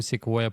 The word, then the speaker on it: Sequoia: Yeah, it's Came up- Sequoia. Yeah, you said it right. I just didn't recognize what Sequoia was, to be honest.